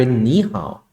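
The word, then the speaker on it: 你好: หนี่ เห็น มั้ย ครับ มัน อ่าน ว่า หนี่ แล้ว ก็ เฮอ เอา เฮา เฮา เา เหา ๆ เห็น มั้ย ตัว นี้ อ่าน ว่า นี่ ตรง นี้ อ่าน ว่า เห่า เอ๊ะ แต่ ทำไม เวลา อ่าน ติด กัน มัน กลาย เป็น นี้ ห่า ไวยากรณ์ มัน จะ บอก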